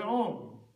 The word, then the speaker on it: om: The mantra begins with om. And om is made up of three sounds. Ah, u, m is om. Because o is ah plus u. Short ah plus or short u is o.